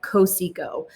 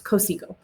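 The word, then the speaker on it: Cotsiogo: That's how you say that, Cosico. That T is it's silent. It's Cosico.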